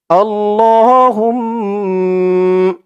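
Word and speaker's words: اللّٰهُمَّ: জবর উঠে গেছে তো এখানে খাড়া জবর পড়বেন এক আলিফ টান দিয়ে পড়বেন আল্লাহ এই আলিফের উপরেও একটি জবর ছিল আল্লাহ হা দিয়ে মিম ধরবে হা মিম পেশ হুম আল্লাহুম্ম মিম জবর মা আল্লাহুম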